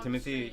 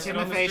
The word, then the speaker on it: Timothée: How do you say his name? Timothy Chalamet? Timothée Chalamet. It rhymes.